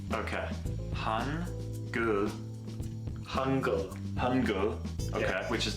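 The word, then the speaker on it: 한글: A reminder on this one, it's either an R or an L. And in this case, it's more of an L. Okay. Han. Gul. Hangul.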